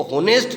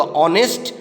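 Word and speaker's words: honest: और ने इस टेस्टी इसमें ऐड साइलेंट है इसको होनेस्ट नहीं बोलेंगे इसका प्रदर्शन होगा ऑनेस्ट और इसका अर्थ होता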